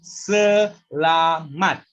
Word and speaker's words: selamat: So that three syllable word for the first word, yeah. So selamat.